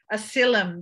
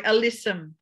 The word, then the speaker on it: alyssum: going to cross off is asylum that little hedge one the uh sorry alyssum alyssum it helps if i pronounce them correctly doesn't it spelling in